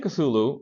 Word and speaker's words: Cthulhu: Well, I'm saying Cthulhu, which is the acceptable way of pronouncing it, but actually the name of this cosmic deity was not meant for people to pronounce.